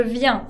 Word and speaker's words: viens: Je viens au restaurant avec vous. Je viens y no pronuncio la S.